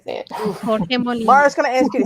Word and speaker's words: Jorge Molina: Dad, you say it so good. That's how you say it. Jorge Molina. Mara's going to ask you to say it again. Jorge Molina.